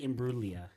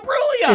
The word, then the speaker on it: Imbruglia: Yeah, I'm gonna call you off on pronunciation. That's bullshit. You can't No, call me it's off. Natalie Imbruglia. No, It's Natalie Imbruglia. it's Natalie Imbruglia. You missed a syllable.